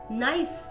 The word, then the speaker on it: knife: K is not pronounced in these words. K cha uchchar ya shabdan madhe kela jat nahi. Knee, new, knife, night, knit, knock, knot, no, knowledge, knob.